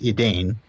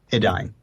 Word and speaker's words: Edain: friends also known as the Adine that's e d a i n but not pronounced Edan Adine not Edan so is that a